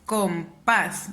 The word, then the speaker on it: compás: Si la pronuncio es compás. ¿Dónde mi voz se eleva más? En el pas. Entonces me doy cuenta que esta es la última sílaba y la penúltima sílaba. Como mi voz suena más en la última sílaba, es una palabra aguda.